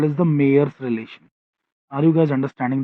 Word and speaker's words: Mayer: Mayer की spelling MAYER. Mayer's relation, इसको मायर्स भी बोलते हैं कुछ लोग, बट ठीक है.